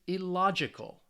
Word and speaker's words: illogical: the cal um and you can see that the stress is on the third to last syllable which means for these words it's on the second syllable so let's say these